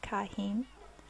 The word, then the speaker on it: Chaim: It should be pronounced Kahim, but I got so used to calling him Chaim in the first episode we met him that it's kind of become habit.